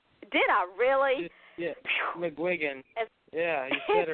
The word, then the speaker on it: McGuigan: actually said it right did I really yeah McGuigan yeah he hit it right we can up